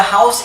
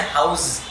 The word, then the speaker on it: house: And with the word house, don't say house. Za sound is wrong. House, sa, should be pronounced there.